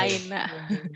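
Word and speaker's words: أين: Ainanya jangan seperti ain bacanya, Oh terlalu iya, fasih nanti malah. aina. Min aina, Aina biasa aja.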